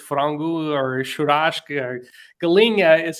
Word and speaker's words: galinha: Galinha is how they say it in Portuguese.